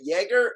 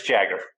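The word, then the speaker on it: Jaggaer: that's brilliant so let's let's talk about the pronunciation of is it Yeager or we get that a lot yeah it's Jagger okay now you're in Europe you may say it a different way but in the States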